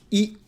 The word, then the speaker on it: い: Then we have E. E is pronounced like E in eel. You have to be careful here because in eel, it's a long vowel, eel, whereas in Japanese, it's a short one, E.